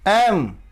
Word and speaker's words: M: L नहीं, L, L, M, यम नहीं, M, M नहीं, M, यम गलत